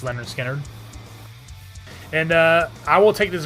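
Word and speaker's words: Lynyrd Skynyrd: It's on the first Skynyrd album, the one called Pronounced Leonard Skynyrd.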